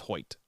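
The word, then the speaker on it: Hoecht: we will respect you is that how we pronounce the name yes I heard it on the broadcast it is hoit so Michael hoit they don't know though either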